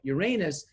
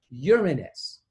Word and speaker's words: Uranus: say the word because they say it like Uranus which is an accepted pronunciation but that is not Latin you would never hear anybody speaking Latin and talking about the seventh planet being Uranus they would say Uranus and I want you